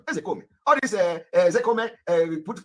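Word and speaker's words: Ozekhome: You know, people are laughing when I call him Ezekome. Ezekome is the pronunciation.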